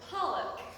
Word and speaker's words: pollock: Pollock. A very big explanation, and it took me multiple cars to figure out how to say this word. The so Paul and then uck, Paul uck.